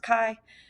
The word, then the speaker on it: chi: is the Greek letter Kai CI but it's pronounced Kai um that is the statistic that we are